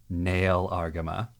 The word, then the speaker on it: Nahel Argama: fans out there and use the dub pronunciation nail arama but for those of you listening at home every time we say nail arama I want you to think that means near argama deal deal and now